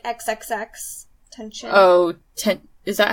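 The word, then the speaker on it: XXXTentacion: Did you ever listen to Extension? It's like XXX tension.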